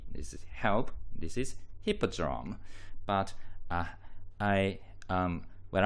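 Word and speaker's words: Hippodrome: and it seems that the letter H is not pronounced in French. So he tended to say appi eldrome.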